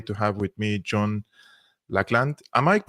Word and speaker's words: Laughland: I'm very happy to have with me John laand I might pronouncing your surname correctly loand yes you are yes loand yeah loand you